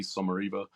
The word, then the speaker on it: Sommariva: name at suara uh people always wonder how you pronounce that it's s o m a r i v a suara um and then John